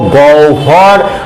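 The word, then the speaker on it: গহ্বর: না বিহব বলবো না কি বলবো গহবরকে বলবো গভর আহবানকে বলবো কিন্তু আহ্বান আহকে বলবো কিন্তু আহভাক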